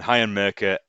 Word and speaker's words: Heian Merca: But yeah, that's Heian Merca, Heian Marker. That you know, Heian Mercer. Already got the No, name wrong. I'm going Heian Merca, and he's an untamed elf.